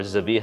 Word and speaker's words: zabiha: then this new term the biha or zabiha as we often pronounce it has been uh introduced